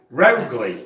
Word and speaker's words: Rowgli: I'll spell it out. Yeah. ROWGLI. ROWGLI. Rowley.